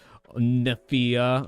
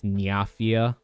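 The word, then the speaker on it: Nyafia: splatter Arina and uh neia or whatever or sorry I said the name wrong I think it's nafia like playoff mafia they literally made an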